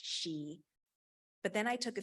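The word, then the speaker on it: sìth: word for Fairy was spelled Sith but pronounced she but then I took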